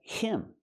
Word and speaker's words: him: Again, him. The H is silent.